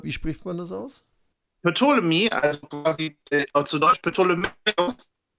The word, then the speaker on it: Ptolemy: Stefan, Ptolemy, oder wie spricht man das aus? Ptolemy, also quasi zu Deutsch Ptolemäus, Das ist, wenn ich mich recht erinnere, ein griechischer Philosoph, Ptolemäus gewesen.